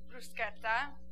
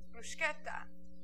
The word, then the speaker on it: bruschetta: Now, the funny thing about bruschetta is that apparently all Americans say it wrong. It's bruschetta, or I guess in other regions of Italy, they say bruschetta.